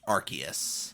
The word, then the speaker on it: Arceus: And that one is Arceus. Oh, is it Arceus? I thought it was pronounced Arceus, like Arse.